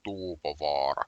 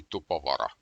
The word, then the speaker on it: Tuupovaara: Firstly, Finnish has very much of double letters here, U's and double A's, because this is pronounced Tuupovaara. If there were only single of these, it would be Tupovara.